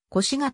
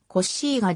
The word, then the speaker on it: コッシガ: を歴任した日本の新聞や出版物では通常腰がと表記されるが言語により近い発音は欲しいがであるサルデーニャ島の北